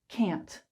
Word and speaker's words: can: is written s two can can can these are the strong forms you can hear these are very um full very clear but normally when we're